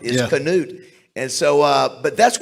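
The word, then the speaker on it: Knute: And what how did you pronounce it? Can you say canute is right canoe is right for many many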